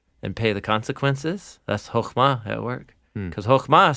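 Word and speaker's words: חכמה: this and it's called hokuma yeah so the Hebrew word for wisdom is the word you kind of have to clear your throat a little bit in that second syllable yeah so wisdom is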